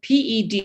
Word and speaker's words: pedunculate: one non-cestila form um okay fidunculate the dunculate that's spelled p-e-d-u-n-c-u-l-a-t-e pedunculate and what this means is the flower